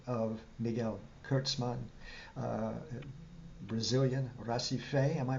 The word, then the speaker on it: Recife: We're going to be speaking about a phenomenal recording of the music of Miguel Kertsman, uh, Brazilian Recife. Am I pronouncing it correctly this time around? Recife in English, that sounds Recife.